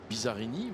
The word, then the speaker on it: Bizzarrini: dunlop suite bizzarrini suite bizzarrini vous avez dit bizarre il est prononcé à la française karine et l'alcool alors